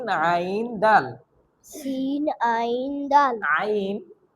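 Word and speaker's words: ع: Scene আইন দাল আইন একটু ভিতর থেকে, অর্থাৎ আমাদের যে কণ্ঠনালী আছে, আমাদের যে হলক আছে, কণ্ঠনালীর মাঝ থেকে আমাদের এই উচ্চারণটা করতে হবে আইন এবং হা।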